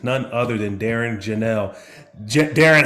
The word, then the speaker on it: Jahnel: Yeah, just to make sure, because I want to make sure I pronounce your last name right. Correct, right? Yep, it's Jahnel.